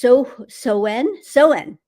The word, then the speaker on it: Samhain: Another thing, it's pronounced Soen. Okay, is that right? Did I say it right? Soen, Sawen, Sawen. Maybe that's it. Okay. Um, yes, but I saw it written out Samhain.